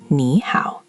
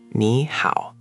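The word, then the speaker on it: 你好: Two dips in a row is hard to say quickly, so the language naturally lifts the first one. Say it the smooth way. Nǐ hǎo. Nǐ hǎo. Oh, that does roll off the tongue way more easily. The first one lifts up, the second one dips.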